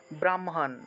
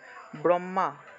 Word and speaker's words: ব্রহ্মা: আগে উচ্চারণ করে ফেলে অনেকে হ টাকে আগে উচ্চারণ করে অর্থাৎ ব্রাহ্মণ ব্রাহ্মা এভাবে উচ্চারণ করে ব্রাহ্মা এভাবে উচ্চারণ করে কিন্তু এটা আসলে ঠিক না কারণ আমাদের ব্যাকরণ নিয়ম